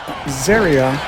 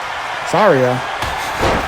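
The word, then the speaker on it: Zaria: Carmen and Zeria. Zarya. I get that pronunciation right eventually.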